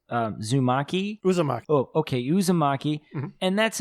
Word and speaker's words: Uzumaki: a japanese comic and i believe that it's pronounced uh zumaki uzumaki oh okay uzumaki and that's another you know